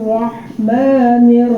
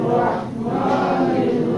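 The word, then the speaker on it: رحيم: রাজিম শাইতানির রাজিম শাইতানির রাজিম রাজিম বিসমিল্লাহ বিসমিল্লাহির রাহমানির রাহিম। বিসমিল্লাহির রাহমানির রাহিম।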